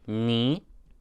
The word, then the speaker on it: knee: Knee. It's spelled with a k.